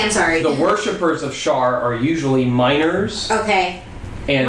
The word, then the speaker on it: Shar: Is Shar spelled like share with an A? Yes. No, it's Shar.